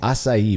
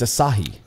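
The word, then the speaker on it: açaí: sense my mind's blown why are you saying assai by the way that's like a like a Brazilian Berry it's aahi aahi yeah I like but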